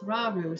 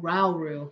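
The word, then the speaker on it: Rauru: right way now just no maybe okay there's Ru so I got to go up to him over there oh ralu I've been saying his name wrong I love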